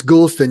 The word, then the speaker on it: Goulston: and um dr gulstan say tell me the pronunciation gulstan it's gulstan you you were too you were too anxious